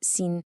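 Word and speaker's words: 心: Well, in this model, that's what the source calls our mind space, or in Chinese, xin, pronounced xin.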